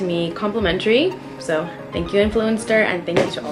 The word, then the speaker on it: Influenster: Influenster, am I saying it right? It's like influencer, but Influenster.